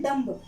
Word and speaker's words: dumb: in depth यानी कि depth में, डेप्थ में आप देख रहे हैं कि क्या है, जो बी है वो साइलेंट हो गया।